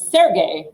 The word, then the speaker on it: Sergey: person sound like but that is sergey is how you say the name um escapologist escapologist has